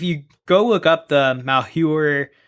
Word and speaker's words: Malheur: The Malheur? Yeah, Malheur, National Wildlife Refuge.